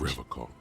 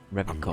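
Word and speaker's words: Revachol: I like to pronounce it the hard way. The old way. The Vespertine way.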